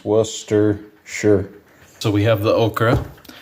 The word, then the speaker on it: Worcestershire: is the bottle of Worcestershire sauce or Worcestershire Worcestershire you see that's how it's pronounced Worcester sure so we have the